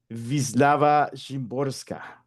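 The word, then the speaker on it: Wisława Szymborska: Nos adentramos a la poeta polaca e Wislava Shimborska, eh cuyo nombre pues lo indagué en internet cómo se pronunciaría en polaco y es algo así como Vislava Shimborska.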